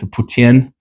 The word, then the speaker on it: poutine: I get the poutine. Putin. That's how you say it. That's how you say it the French way, right?